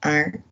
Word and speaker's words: are: Então, vai ser am, are, is. Pro plural, vai ser tudo are. Já começa a facilitar um pouquinho. Essa pronúncia do or, lembre-se sempre do ar que você respira. Não se pronuncia o e, tá?